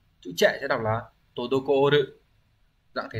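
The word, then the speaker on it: 滞る: Chữ trệ sẽ đọc là todokoru.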